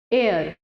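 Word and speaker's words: heir: वो ये भी पूछ लेता है एयर। ठीक है? उस प्रोनाउंस जो करता है एच नहीं करता।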